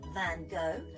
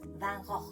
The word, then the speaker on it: Van Gogh: Now, fun fact, lots of people get very confused over how to pronounce his name. Some people say Van Gogh, some people say Van Gogh, but actually the artist is Dutch, and in Dutch we have to pronounce it like this, Van Gogh.